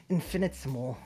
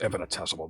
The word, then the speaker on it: infinitesimal: trillionth place it's infants infinite small besides where can you build a fallout shelter anyway certainly not on campus that word's pronounced infinitesimal by the way just for future fair